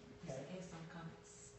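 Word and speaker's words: qamatz: comments right okay and it's pronounced like the a in Father yeah comments okay thank you all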